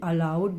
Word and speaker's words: allowed: Pronunciation is same, but the spelling is different and the meaning is also different. ALOUD, allowed, means loudly, and ALLOWED, allowed, means permission.